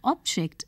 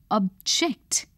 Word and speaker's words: object: You will notice that when used as a noun, the word carries the stress on the first syllable.